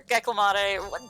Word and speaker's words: Gecklamatee: That it kind of rhymes with Calamity, that it's supposed to be Gecko, Clam, and Manatee smashed together, you know?